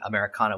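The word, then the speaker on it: AmeriKana: uh you know like spelling americana with a k kind of forces you to pronounce it the the spanish pronunciation yes um which means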